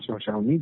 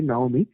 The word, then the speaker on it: Naomi: But Naomi is actually, so not Xiaomi. That's my mispronunciation. Actually, Naomi.